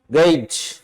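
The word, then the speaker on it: gauge: अब देखें आप, गेज GAU, GAU, AU से ए की ध्वनि आ रही है, किसकी आ रही है, ए की ध्वनि है, तो गेज। और GE से जे की साउंड आ रही है, जिसे अपने पहले बताया था जज, जेंटल।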